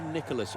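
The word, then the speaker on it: Nicolas: not very far away the french always call him nikola but nowadays he's adopted much more of an anglophone pronunciation of his voice is actually nicholas wrote these days and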